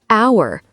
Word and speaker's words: hour: The P is silent or hour. You don't say the H.